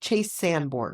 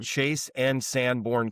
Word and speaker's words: Chase and Sanborn: Is it Chase and Sanborn or is it Chase Sandborn? Chase and Sandborn Coffee. I have been saying it wrong this entire time. My apologies. at the Chase Sandborn like a like a go on. Yeah, there's an and in there I think.